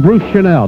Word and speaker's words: Bruce Chanel: A lot of people got this man's name wrong the first time until they corrected everybody. This is Bruce Chanel, not Bruce Channel.